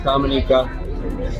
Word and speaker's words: Dominica: as well so everybody was Dominica so it's Dominica we stand I stand corrected I don't know